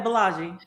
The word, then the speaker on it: Bolaji: Yeah, Bolaji.